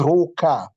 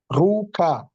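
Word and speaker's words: ruka: So you bring Ru, then you command with a syllable K, the first K, which is Ru-ka. Ru-ka. Ru and K-A, Ru-ka.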